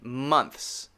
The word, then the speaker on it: months: like that month and months month and months it can't be months or month is it can't be two syllables it has to be only one syllable month and months okay